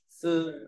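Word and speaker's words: 厶: Phẩy gập chấm đọc là sư, đọc ngang là sư.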